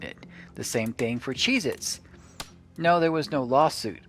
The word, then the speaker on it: Cheez-It: end it's a Z, and it's just Cheez-It. It's not Cheez-Its with a Z on the end.